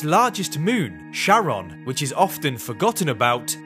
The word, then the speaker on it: Charon: to his wife Charlene he pronounced it as Sharon rather than Caron not much was known